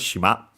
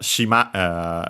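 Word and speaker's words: 島: Should be accented on the last syllable. And it is shima.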